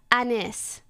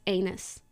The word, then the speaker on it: Anys: Yeah, it's spelled Anys. And it's pronounced Anis. And he looked me dead in the eye and he goes, anus. Not as a question, as a statement.